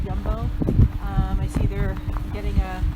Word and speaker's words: Jumbo: like a jumbo but they pronounce the j's y so it's jumbo i see they're getting